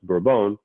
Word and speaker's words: Bourbon: revolutionary war is also spelled the same way pronounced bra-bone so who knows but again there wasn't a